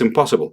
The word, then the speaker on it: impossible: Pero en inglés nos vamos a cargar más hacia la mitad o incluso el principio de la palabra.